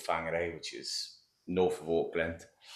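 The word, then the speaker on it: Whangarei: Um, and then in a place called Fangare, which is north of Aland. F.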